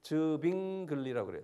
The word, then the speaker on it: Zwingli: 츠빙글리 (Zwingli) 는 독일어로 'W' 가 'V' 처럼 발음 되기 때문 에 붙여진 이름 입니다 .